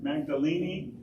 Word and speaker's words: Magdalene: there mary of mary magdalene magdalene technically you pronounce the e come from this area